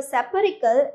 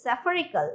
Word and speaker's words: spherical: And this is not a spherical, it's spherical, that means a shape like a sphere.